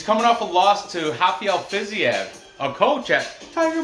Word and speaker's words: Rafael: Rafael, because the R's are pronounced H in Portuguese.